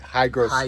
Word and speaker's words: hygroscopic: Did I say that right? Hygroscopic. Hygro with a G, yes. I cannot spell it, but I can say it. That's hygroscopic.